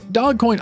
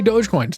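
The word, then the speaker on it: Dogecoin: I know it's pronounced dog coin. I'm not going to say it. I'm going to say Doge coins.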